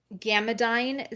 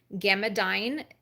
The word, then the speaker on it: Gammadyn: My recommendation would be Gamadine zinc copper.